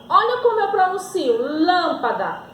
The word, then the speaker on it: lâmpada: ó é o novo terceiro exemplo eu tenho aqui a palavra lâmpada lâmpada a minha sílaba mais forte é a antepenúltima então eu digo que